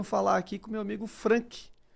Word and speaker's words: Franck: Nessa noite eu venho falar aqui com meu amigo Frank. Pronunciei correto?